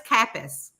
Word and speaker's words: Kappes: your last name right it is right no it's capis I read that on